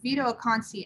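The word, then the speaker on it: Vito Acconci: um touching uh xinhei i believe it's pronounced vito akansi and gina payne to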